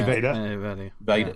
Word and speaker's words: Vedder: Eddie Vedder.